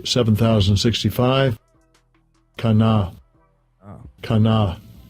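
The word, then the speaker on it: קנא: Let's get the pronunciation first. Strong's H 7065. Kana.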